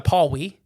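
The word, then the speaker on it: Pawnee: The Pewee, the Pawwee, I think is how it's pronounced.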